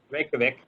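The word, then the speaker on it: Reykjavík: So they went ahead and Reykjavik, how are you pronouncing it? Reykjavik.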